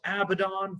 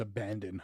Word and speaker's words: Abaddon: Hikaru Shida versus Abaddon for the women's title will happen on one of these shows. Whenever I see that woman's name, I always think it's Abandon.